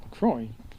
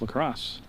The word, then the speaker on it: Lacrosse: I used to pronounce it LaCroix, like Frenchman, but he corrected it last year at a ball game, and it's Lacrosse.